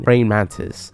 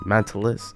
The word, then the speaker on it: Brain Mantis: Yeah, it's a 4% chance of gaining Brain Mantis. I think I've been pronouncing it this whole time wrong. I've been saying Mantilus.